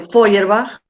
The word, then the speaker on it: Feuerbach: escribe no se preocupen sí se pronuncia así como el mar se le bien sí como las flores de bach las flores de bach pero con un folio en adelante bueno